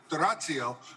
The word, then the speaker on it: D'Orazio: Please choose D'Orazio, or as Pietro correctly pronounces it, D'Orazio, for your next LNC chair.